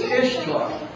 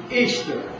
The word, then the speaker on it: Ishtar: Now, if you could say that it pronounces Ishtar, well, you would be wrong, because it's pronounced Easter, E-A-S-T-E-R, but it's spelled I-S-H-T-A-R, pronounced Easter.